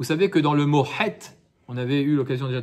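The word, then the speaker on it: חטא: het, oui, la faute, il y a un aleph à la fin. Et le aleph, il est muet. Oh, ouais. Un het, ça s'écrit het, tet, aleph. Il se prononce Donc il pas. ne se prononce pas ce aleph, mais il est présent dans le mot het.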